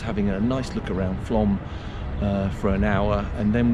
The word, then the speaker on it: Flaam: Flaam or Flaam? Flaam. Flaam. Yeah. I like to pronounce these things properly.